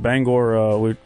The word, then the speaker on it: Bangor: about our stop in Bangor. Hey, you said it right too. Yeah. Get a lot of banger.